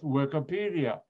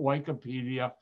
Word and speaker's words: Wikipedia: you're all familiar with wikipedia when it first came out i used to call it wikipedia my students would talk no it's wikipedia dr white they taught me the right way to say it now for chemistry especially